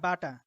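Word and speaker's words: ب: তো এটার মতো বাংলায় উচ্চারণ নাই। বাংলায় তার কোনো হরফ নেই, অক্ষর নেই। তাহলে দেখেন এখানে এই যে এই বাটা, তো এটা একটা গড়ের মতো।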